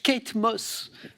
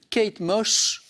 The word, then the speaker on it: Kate Moss: On cherche Kate Moss, mais la langue de Marie fourche un peu, ça nous donne une Kate Mosh, qui pour le coup est assez étonnant d'ailleurs.